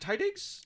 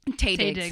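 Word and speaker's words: Taye Diggs: Because is it Tydigs? Taydigs. Taydigs. I'm going to mispronounce his He name. is going to. The whole time we watched the movie, he kept saying it wrong. And I was like, it's Taydigs. It's Taydigs.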